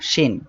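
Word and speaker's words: ش: শিন, এই অক্ষরটা শিন। আমরা একসাথে পড়ি সবাই, শিন জবর শা। শিন অক্ষরটি জিহ্বার মাঝখান তার বরাবর উপরে তালুর সঙ্গে লাগিয়ে শিন অক্ষরটি উচ্চারিত হয়।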